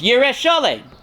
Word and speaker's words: Yerushalayim: So why is it Yerushalayim? Why is it pronounced Yerushalayim? It's Yerushalayim. Why do we stick the extra Yud in there?